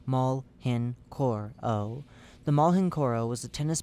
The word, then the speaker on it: Mhenoro: Searching for the other end showed that the surgeon had missed another entirely new organ inside of the entity dubbed the Mhenoro, pronounced maul henoro o.